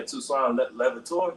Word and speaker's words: Toussaint Louverture: Yeah, Toussaint Louverture.